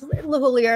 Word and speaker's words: LeHoullier: And I asked him just today, and he's like, no, it's LeHoullier. And on the Joe Campbell show, the Joe Gardner show, he was saying LeHoullier.